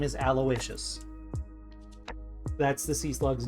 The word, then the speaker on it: Aloysius: Aloysius is what my mouth wanted to say for some reason. Okay. So apparently the sea slug's name is Aloysius.